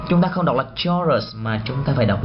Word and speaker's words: chorus: Chúng ta không đọc là chorus mà chúng ta phải đọc gì?